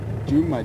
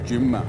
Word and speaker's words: Djuma: You pronounce it with the letter D, Juma, D-J-U-M-A, Juma.